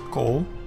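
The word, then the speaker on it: כל: And it is a single closed syllable. Hence, a Comets Khatouf. So you pronounce it as kol, and it means all.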